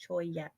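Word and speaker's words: Cholla: Choya. I knew I was going to say it. It's, the CH. Choya.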